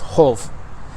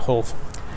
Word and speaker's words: hof: The term hof, H-O-F, in Old Norse actually would be pronounced holf. And so it's not, that F kind of had a V sound to it, so it'd actually be holf.